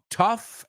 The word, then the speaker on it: tough: just be careful though the f is the same but they don't really rhyme right tough and cough right so tough would be more like rough um what's another word